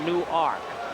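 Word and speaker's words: Newark: ark any W arkade like nework New Jersey except they pronounce it new ark infield in and Andy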